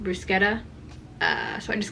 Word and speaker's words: bruschetta: type out bruschetta or someone told me it's pronounced brusketta uh so I just called it clay but